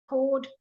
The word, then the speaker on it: chord: yes um Roberts asking is it the same pronunciation for cord and CH Rd yes it is the cord are the notes of a music scale chord which chord are you